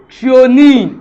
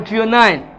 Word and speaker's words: threonine: And the other T here stands for threonine or threonine, based on your pronunciation.